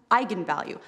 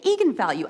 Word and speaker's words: eigenvalue: came out because apparently it's pronounced eigenvalue that's how you're supposed to say I'm the director don't bleep me the fing director told me to say egon value and it's eigenvalue and the whole internet